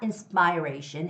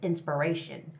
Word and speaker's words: inspiration: and the word inspiration it's not inspiration it's inspiration when it becomes a noun it has to be inspiration inspirations inspirations and the word